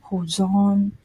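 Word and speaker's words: 保存: 26 okay number 36 this two con kanji is pronounced as hozon ozone means to um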